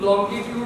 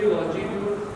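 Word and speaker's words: longitude: लॉन्गिट्यूड भी कह देते हैं, लॉन्जिट्यूड भी कहते हैं, सही प्रोनाउंसिएशन देखिए लॉन्जिट्यूड।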